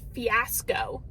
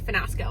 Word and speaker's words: fiasco: So I know that the word is fiasco. Fiasco. I know that's how you say it. Let me tell you why I say finasco, okay?